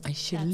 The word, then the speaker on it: Angelique: And then it goes over to our other guest, Angelique. That's me. Make sure we say it correctly. Angelique.